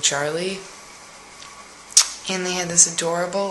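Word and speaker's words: Jarli: like tom cruise's daughter his name was charlie but it was spelled with a j but you say it like a cha so it was like i think it was he said j-a-r-l-i so it's like charlie and they had this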